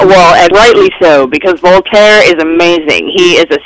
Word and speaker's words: Voltaire: And everyone keeps talking about, I always get the name wrong, Voltaire.